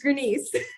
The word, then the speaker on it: Grenice: Is it Grenice? It's actually, you got it right. It's Grenice. Oh, Grenice.